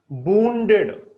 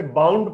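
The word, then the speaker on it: wounded: वुंडेड, वुंडेड माने घायल। वुंड इसकी फर्स्ट फॉर्म होती है। कुछ लोग इसे बाउंड पढ़ते हैं, ध्यान रखना।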